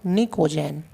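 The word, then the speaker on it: pnictogen: Elements of this group are called निकोजेन। देखो PNiCOGN निकोजेन, P silent है, निकोजेन कहते हैं, ठीक है।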